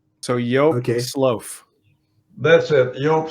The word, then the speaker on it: Slooff: Similarly, my last name, the double O in Dutch, is always sounds like an O. So if I spell it S-L-O-A-F, then it comes out pretty well with the English-speaking people.